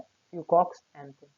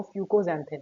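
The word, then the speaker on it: fucoxanthin: क्या बोला जाता है, फ्यूकॉक्स एंथीन, या फिर कई लोग इसको फ्यूकोजेंथिन बोलते हैं, ठीक है। आप दोनों तरीके से प्रोनाउंस कर सकते हो, बस एग्जाम के टाइम पे स्पेलिंग से यूज करना है। वैसे जो असली प्रोनाउंसिएशन है वो फ्यूकोजेंथिन, ठीक है।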